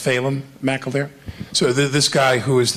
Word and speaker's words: Phelan McAleer: It's pronounced Phelan McAleer.